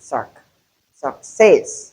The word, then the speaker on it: success: When you say success, you're wrong because the stress is on the second syllable that the symbol meaning that the first syllable is weak and we have the sound there. Look it is not all. It's not suck but success.